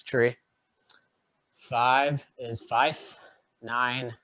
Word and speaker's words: three: pronounce them regularly so three is commonly referred to as tree five is five nine